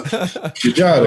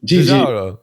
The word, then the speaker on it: Giugiaro: So, Giugiaro. Okay. You got to say it like that. Giugiaro.